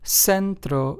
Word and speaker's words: centro: So, as you can hear, centro, siesta, zanahoria, these are c, s, and z, but yet they all have an s sound to them in the beginning, right?